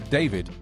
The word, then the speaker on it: D4vd: Before all this, David, pronounced D4vd, had been hailed as one of Gen Z's brightest alt-pop rising stars.